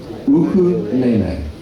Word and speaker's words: ukulele: It is u, ku, le. Ukulele. It's not ukulele. Ukulele. No. Uku. Yeah, now when we do our ukulele class and you go in, the Hawaiians are going to test you. Because everybody pronounces it on the west. Yeah, Westerns pronounce it ukulele, but it's not.